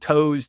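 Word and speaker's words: Toews: Paris to his behavioral Finance related work at Taves which is spelled toes t o e w us and the behavioral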